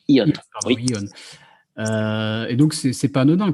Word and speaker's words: Aeon: Et justement, tu parles beaucoup donc de cette JV avec j'ai peur d'écorcher le nom, c'est Ion, c'est comme ça qu'on prononce? Ion. Pardon, oui. Ion.